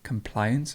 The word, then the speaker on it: compliance: next we have compliance compliance so the stress goes in the middle there's compliance and to